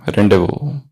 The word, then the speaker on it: rendezvous: And its spelling is entirely different than the way it is pronounced. The word has got Z, but in pronunciation there is no Z. It starts with R.